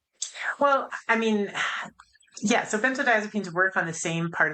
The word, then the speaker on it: benzodiazepines: And that is and I have trouble pronouncing it benzo so ben- benzodiazepines.